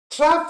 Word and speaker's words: trough: Trough, you can pronounce it like trough, like rough.